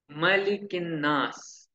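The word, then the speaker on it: مَلِكِ النَّاسِ: Malikin Nas. We should pronounce it correctly.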